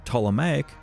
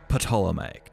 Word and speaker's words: Ptolemaic: was ptolemaic egypt yes it's pronounced ptolemaic not patolomaic you filthy plebs with